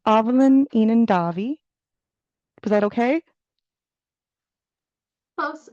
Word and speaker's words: Aibhilin inghean Daibhidh: And today's very amazing presenter is, I'm so sorry if I mispronounce it, it's Aibhilin inghean Daibhidh. Was that okay? Close. Aibhilin inghean Daibhidh.